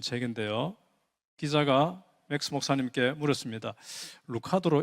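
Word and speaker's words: Lucado: 루카도로 읽어야 됩니까? 루케이도로 읽어야 됩니까? 하니까 I prefer 루케이. 루케이도라고 읽어 주세요라고 대답을 하셨거든요. 그래서 맥스 루케이도 목사님이시는데요.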